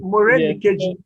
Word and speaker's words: Morenikeji: So this is Morenikeji. Wait, which one is that one? Morenike. Yeah, actually, that's a long form of calling my name. Actually, It's Morenikeji.